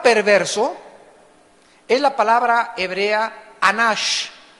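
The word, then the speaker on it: אנוש: Y la palabra perverso es la palabra hebrea anash, A-N-A-S-H, anash, y significa incurable.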